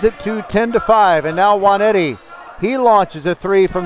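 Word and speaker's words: Nwaneti: Jason Juanetti spells his last name N-W-A-N-E-T-I, but the first N is silent.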